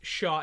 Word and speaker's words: Chau: Okay, you heard that CHAU is pronounced Shaw in game, so thank you so much, Leon Sandcastle.